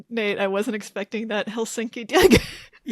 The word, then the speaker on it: Helsinki: Then spent some time in Helsinki, Finland. You can tell I have cuz I'm pronouncing it Helsinki, not Helsinki, which is how uneducated Americans say.